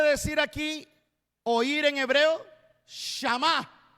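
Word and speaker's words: שמע: Shama. Es la misma palabra, pero acento en la A. Ya no es Shama, ahora es Shama.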